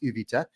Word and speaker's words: Uvita: Being in the town of Uvita, or pronounced Uvita by the locals in the Dominical region, I would have to drive to San Isidro.